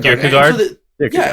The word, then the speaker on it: Kierkegaard: How do you pronounce that? Kierkegaard.